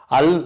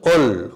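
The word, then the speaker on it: עַל: பேர் ஒல் அப்படின்னு சொல்கிறாங்க, அல் அப்படிங்கிறது நான் வந்து அல்லுன்னு போட்டிருக்கேன், அது வந்து ஒல், கொஞ்சம் இந்த ஓ சவுண்டு இந்த ஓங்கிற மாதிரி கொஞ்சோண்டு இருக்கணும் அதில், ஒல் அப்படிங்கிற மாதிரி, ஒல் பனே அப்படிங்கிற மாதிரி தான் சரியான உச்சரிப்பு.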